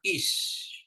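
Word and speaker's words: איש: yang kemudian is ya Al tambah Hik Y atau tadi ya huruf senyap Alif ditambah konsonan I hirikm tambah akhiran Sin dibaca is is is artinya orang atau orang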